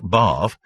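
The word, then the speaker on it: Badb: Sumerian deity an Irish goddess more exactly bav pronounced bav B baju in VW the Negro king of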